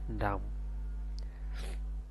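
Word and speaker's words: dumb: এখানে এন এর উচ্চারণ না আসে, এখানে হবে ডাম। এখানে এস এর উচ্চারণ না আসে, এখানে হবে আইল্যান্ড।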